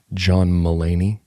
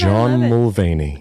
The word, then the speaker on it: Mulaney: John Mulaney. Oh, I was reading there's a V in there. That's the most Cindy Birdwell thing ever, to be like, Crindy will mispronounce a name. And John Mulvaney.